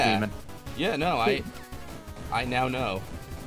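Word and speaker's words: Daemon: This is Demon, but spelled D-A-E-M-O-N, like... Yeah. Which I like, actually... like Damon. Yeah, I always thought it was Damon, like Mailer Damon and all that. Yeah, but It's pronounced the same way. It's just demon.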